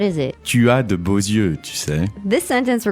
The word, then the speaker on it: beaux yeux: Beau, but because eyes is plural, we say beaux yeux. Yeah. That's the liaison. Because normally the X at the end of beau is silent, but here you have to pronounce it.